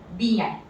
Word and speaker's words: bien: IEN is pronounced as EN. EN. So this word becomes bien.